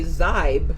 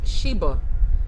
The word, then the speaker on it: Xibe: I would say Zybe, but this is saying it's Sheba.